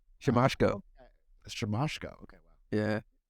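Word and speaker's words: Siemaszko: Casey simichko symmetrico nope he forgot how to pronounce his name shimashko Mr moshko yeah it's actually a real name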